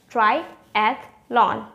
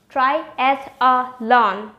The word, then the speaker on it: triathlon: or just three syllable which one is correct the one with the three syllable is correct try at lawn not try as a lon the one with four